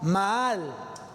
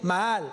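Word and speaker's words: מעל: hebreo prevaricar viene del hebreo maal maal m a a L maal acento en la segunda a maal y significa traicionar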